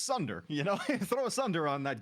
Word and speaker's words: Sunder: One thing can turn this Khepri pick around for me, and it starts with an S and rhymes with blunder. It's Sunder, throw a Sunder on that Khepri.